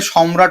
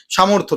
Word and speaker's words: সামর্থ্য: সামর্থকে অনেকে সম্রাট উচ্চারণ করছে। এটা ভুলটা করবেন না। সামর্থ হচ্ছে সামর্থ্য যেটাকে বলে বাংলাতে।